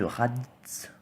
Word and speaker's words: Raditz: Ce Raditz. T'as pas envie de le prononcer le tz.